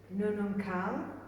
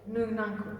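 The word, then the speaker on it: Noonuccal: can never say her name properly, but Ujuru Nununkal. Ujuru Nununcle. Nununcle, thank you, Kath Walker.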